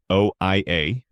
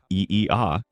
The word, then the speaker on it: Oia: OIA, Greece. Santorini's crown jewel. Arguably one of the most photographed towns in the world, Oia, pronounced Eea, sits on the northwestern tip of Santorini in the Aegean Sea.